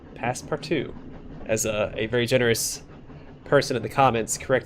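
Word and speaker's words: Passepartout: at past part too that's how you say it past part two as a very generous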